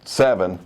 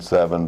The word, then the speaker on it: SE7EN: It's actually spelled S-E, the number 7 and an E-N. So it's 7, it's just said 7, but it's spelled that way.